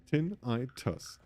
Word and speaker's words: tinnitus: Yep, tinnitus. Pronounced tin-I-tus. Right.